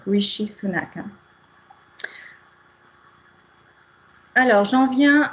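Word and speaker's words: Rishi Sunak: En revanche, le S H se prononche donc notamment pour le nom du premier ministre britannique Richy Sunak et non pas Richiak qu'on entend régulièrement également. Donc Richi Sunak.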